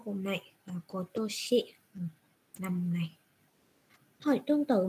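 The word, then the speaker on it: 今年: Nhớ ha, cái chữ mà ở năm nay người ta đọc là Kotoshi.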